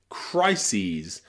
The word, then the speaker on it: crises: Same with crisis becomes crises, and thesis becomes theses, okay? That es on the end of words here is always pronounced ease, ease, because they're taken from Greek, okay?